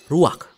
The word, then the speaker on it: ruach: Kata dalam bahasa Ibraninya adalah ruach. Ruak? Ya, benar. Tenggorokan kita harus benar-benar bersih di akhir pengucapan.